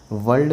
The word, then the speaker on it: world: वर्ल्ड में बच्चों are silent है, इसको वर्ल्ड बोलते हैं हम, वर्ल्ड।